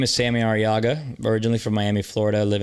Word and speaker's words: Arriaga: literally just my name Sammy araga with two RS if you could roll your RS you get extra points